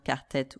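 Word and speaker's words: quartette: Donc, un quart-tête, un quintette, qui peuvent aussi s'orthographier sans le double TE, juste avec ET à la fin, mais qu'on prononce toujours quart-tête ou quintette.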